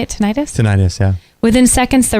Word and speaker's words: tinnitus: Is that how you say it, tinnitus?